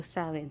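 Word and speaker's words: Samhain: sa mga ah nagce-celebrate ng samain Paano ba bigkasin yit saen so sawin so sa mga nagce-celebrate ng sawin happy sawin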